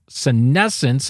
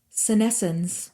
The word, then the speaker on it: senescence: Senescence, and it's pronounced, just to make sure we're doing it correctly, Senescence.